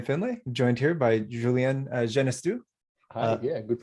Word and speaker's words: Genestoux: uh i'm findlay joined here by julian genestu hi yeah good pronunciation uh of unlocked protocol and we're gonna